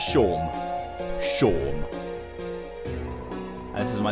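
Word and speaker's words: Seam: Don't have anything better to do. Actually, it sounds like the librarian from Symphony of the Night. Yeah, you got that. Yours. About yourself. Name's. Pronounce Sean.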